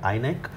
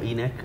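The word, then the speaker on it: INEC: with you know with in or enck depending on who is you know pronouncing it and you get registered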